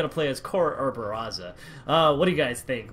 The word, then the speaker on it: Barraza: You gotta put that R. You gotta roll the R a little bit, apparently. Barraza.